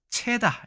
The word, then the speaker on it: 猜: 이 반절법에 따르면 발음은 창제절이다. 채다 이렇게 되는 겁니다.